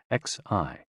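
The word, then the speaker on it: 嘻: HOO, pronounced like hu, which is associated with the spleen, and XI, pronounced like shi, which connects the whole body.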